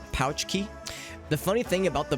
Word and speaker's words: Pulaski: I mean Chicago has or Illinois has cashmere Pulaski day which is kind of a holiday that was made to you know to get to gain the good graces of the Polish population and it's pronounced pouch key the funny thing about the Box Johnson is